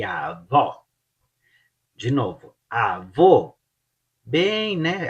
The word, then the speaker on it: avó: Avô e o avó, você abre e dá mais um ênfase no ó, like ó, avó, avó.